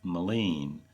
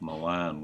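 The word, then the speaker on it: Maligne: Once we got to Jasper, we went out and visited the beautiful Lake Maline. You'll hear me mispronounce it and call it Lake Milan once or twice in these upcoming videos.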